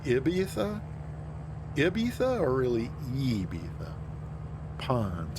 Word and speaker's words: Ibiza: Oh, Ebi. Oh, you learned to pronounce it Ebi. Interesting. E, like seriously hard E, or more of just like a neutral E? Like Ibiza?